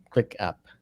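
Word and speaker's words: ClickUp: uh yeah we use a service called clip click up click up I should say it properly that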